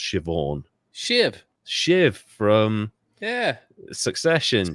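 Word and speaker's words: Siobhan: Rings uh shobon uh kind of written the Irish way so s i o b h an but it's Pro pronounced shivon shiv shiv from yeah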